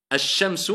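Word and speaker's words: الشمس: Mais comment ça se fait qu'il y en a un, on ne prononce pas Alif wal Lam, on passe directement, on dit Ash, Ash-Shamsu.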